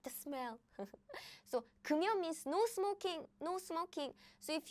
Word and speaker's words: 금연: So what happens is the pronunciation is like, pronunciation is more close like 금연. It's not 금연. No, it's 금연. So this 미음 is moved to the circle. It replaced the circle.